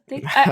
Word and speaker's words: aphotic: Is that how it's pronounced? Angry, you would know. Aphotic.